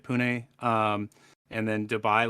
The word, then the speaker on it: Pune: Miami and then uh is it poop it's pronounced Pune right Pune um and then Dubai